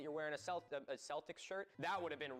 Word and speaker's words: Celtic: Here in Ireland, except for the initial soft say in sports teams names like the Celtics, Celtic with a hard C or K is the standard.